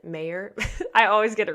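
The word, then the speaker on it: Mawer: it's Rudy Ma you it's m a w e r it's kind of they pronounce it a British way so I think he actually pronounces it mayor I always get it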